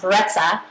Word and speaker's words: Brezza: my diet with more ease and actually baby Breza is actually pronounced breta but it means breeze in Italian and this